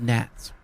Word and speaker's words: gnats: It was called because of gnats. Gnats. It's funny, I was going to say bats, but which rhymes with gnats.